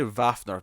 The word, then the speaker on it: Wafner: I probably should say Wafner because that's how they pronounce their.